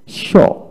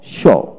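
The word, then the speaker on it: pshaw: এভাবে পি উচ্চারণ হলো না। তারপর আসেন core, C ইউ আর পি S, score, score. তারপরে সল্টারিয়া, সল্টারিয়া। তারপরে সল্টারি, সল্টারি। তারপরে শো, শো, পি এস এইচ ও ডাব্লিউ, শো, শো।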